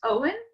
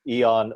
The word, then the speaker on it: Eoin: as jane said my name is owen if you can see my name on my screen you will know that i now benefit from the new linkedin feature where you can record the pronunciation of your name um i've had some interesting ones over the years including eon oyen and my favorite was i